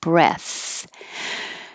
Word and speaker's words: breath: for past tense overworked if it's a noun it's breath and the vowel is e and the th is voiceless breath take a deep breath